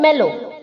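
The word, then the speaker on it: mellow: meditating next है बच्चों मेलो इसे हम कैसे प्रोनाउंस करेंगे एम E double L ओ के आगे जो डब्लू है उसे हमें डब्लू को साउंड नहीं करना है एम ई डबल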